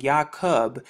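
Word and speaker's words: יעקב: jacob in the english it has the exact same pronunciation in the ancient yahoodieth hebrew tongue yah cub and then if you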